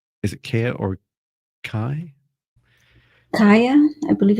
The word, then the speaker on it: Kaya: Kaya, I believe it's... Kaya. Kaya, that sounds better. More like Gaia with a K.